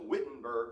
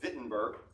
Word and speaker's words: Wittenberg: town of wittenberg now in german w is pronounced with a v when you see w when you speak in german you pronounce it v so we would call it wittenberg but they would call